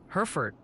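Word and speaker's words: Hertford: They're adamant it's pronounced Herford County like the cattle.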